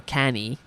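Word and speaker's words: Cannae: he uh won the Battle of canai Against All Odds and or canny some people pronounce it like that um and Against All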